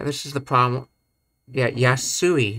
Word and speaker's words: 安い: Yeah, yasui, not yesai, yasui.That's the problem when trying to show both the kanji and the hiragana.